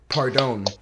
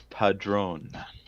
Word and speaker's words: Padron: draft, the Vipers will be selecting Jordan Pardone. He said the name wrong. How do you say the name? It's Padron. Oh, sorry, Jordan Padron.